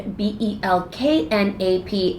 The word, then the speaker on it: Belknap: Anyways, it was just really BELKNAP, and it was really hard because there's a silent K. Okay. So it's Belknap, but it's a silent K in the fucking middle of my name.